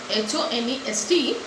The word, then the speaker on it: honest: Similarly, when we say he is dash honest man, although the word honest begins with a consonant H, H-O-N-E-S-T, but since H is silent over here, so we used to